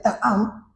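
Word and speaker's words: טעם: En el hebreo original, la palabra gustad, que se escribe y se pronuncia ta'am, significa probar, saborear, experimentar personalmente.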